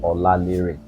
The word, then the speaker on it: Olalere: No special pronunciation. Olalere.